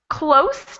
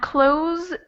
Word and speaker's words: close: s sound that would be the standard s sound so it's like a snake very quiet and the second one has voice so if you were to put your hand over your throat and pronounce just this s z it sounds like a z we have close to finishing and close the door and this is a